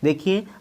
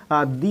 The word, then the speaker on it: the: देखिए, दी word जो है जब वीक फॉर्म में यूज़ किया जाएगा तो इसका जो प्रोनाउंसिएशन होगा वो द होगा या दी होगा।